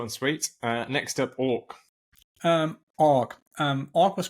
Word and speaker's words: AWK: for awk okay but you pronounce it orc like the bird um it's a domain-specific